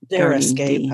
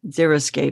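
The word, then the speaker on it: xeriscape: we should describe zeroscape zeroscape I said it wrong zeroscape yeah which is basically basically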